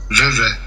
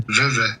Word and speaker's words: Vevey: Vevey.